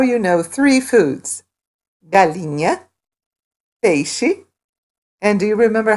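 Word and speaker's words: peixe: she is the word we use for fish hey she hey she notice that the X sounds like hey she awesome so now you know three foods bulimia hey she and do you remember how to say steak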